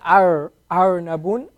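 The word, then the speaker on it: أرنب: Arnab. So here the ra, arnabun. Remember that Arabic, the ra is pronounced off of the tongue. So if you say arnabun, it's wrong actually, you know.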